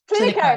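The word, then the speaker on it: Cliniko: Does a practice management software such as, now I'm going to say it wrong, Clinkio, I think it is. Clinico? Clinico, that's the one.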